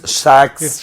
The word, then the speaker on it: Shaks: So certain people call it Shaks. Certain people uh sex. So it goes on like that. Okay, now people have to know how to pronounce it now. Yeah, it's Shaks Fitness Club. Yes. Pronounce it. Shaks.